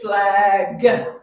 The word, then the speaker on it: flag: not say plague Flags remember the G sound is at the end gut flag you don't have to make it you don't have to say flag you don't have to make it two syllables just one flag yeah just have it